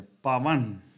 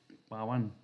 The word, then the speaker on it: Pavan: sono tutti la O, come l'accento sulla seconda A, quindi è Pavan, Pavan.